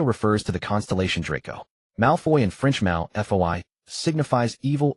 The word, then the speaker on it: Malfoy: Malfoy in French Malfoy signifies evil or harmful, and its pronunciation resembles malform.